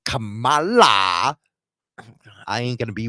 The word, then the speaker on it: Kamala: I can tell you, I'm not going to be like Kamala. I ain't going to be word salad. I always pronounce her name wrong. I always say Camilla.